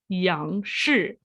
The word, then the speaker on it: Yang: become the standard for young star tai chi to this day and for anyone who wants to know its chinese name young is how it's pronounced as i mentioned earlier